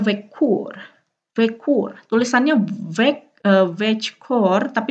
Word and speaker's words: veckor: Tulisannya veckor, tapi dibacanya veckor, ya, veckor.